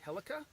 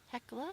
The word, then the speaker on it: Hecla: was our campsite for the evening at the helica hekla hekla i thank god you're here to help correct my pronunciation stuff melody the heckler junction uh campsite